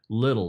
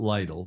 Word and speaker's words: Little: like this guy and his name's Mark little not Lytle Mark little and it's pronounced a little John tells me and